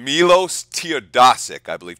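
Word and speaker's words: Teodosić: Was his name Milos Teodosic, I believe. Teodosic or Teodosic. It's got to be an O, because that would be the Eastern European pronunciation.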